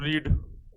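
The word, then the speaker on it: read: कम केम कम coming comes से मैं बात कर दूं रीड स्पेलिंग अगले में रीड ही होता है बट इसको पढ़ते हैं रेड ठीक यह भी रीड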